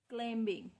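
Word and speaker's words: climbing: इसको हम ना यूं भी होता है कि जो एम के बाद बी है ना जब आता है तो बी साइलेंट होता है। अक्सर बच्चे पढ़ लेते हैं इसको क्लाइंबिंग, नहीं, एम के बाद बी साइलेंट होता है। क्लाइंबिंग वर्ड है क्लाइंबिंग, जो बी है ये साइलेंट है। मोस्टली जब बी एम के साथ आता है तो बी को की आवाज़ नहीं आती, बी साइलेंट हो जाता है।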